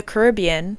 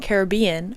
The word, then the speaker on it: Caribbean: Just like the Caribbean and Caribbean are two accepted answers on how to pronounce it. And it doesn't matter which one you do.